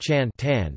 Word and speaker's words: จันทร์: Thai Kandhar, spelled Chant HR but pronounced Chan Tan because the TH and the R are silent.